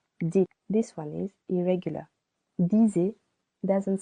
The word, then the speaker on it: dis: Je dis. Silent S. Tu dis. Silent S. Il, elle, on dit. Silent T. Nous disons. Vous dites. This one is irregular. Disez doesn't sound so good for us French.